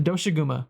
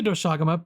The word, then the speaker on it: Doshaguma: Now the next monster is a little bit a step above that, the Doshaguma or the Doshaguma. People pronounce it either which way.